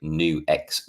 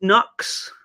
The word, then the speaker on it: NUX: the new X Mighty Is it not pronounced Nux? Or am I... I believed it was pronounced Nux until I heard, I can't remember if it was Pete Thorne or Rabia saying it's actually New X.